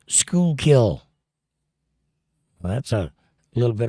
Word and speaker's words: Schuylkill: And Linda says, it's pronounced Schuylkill.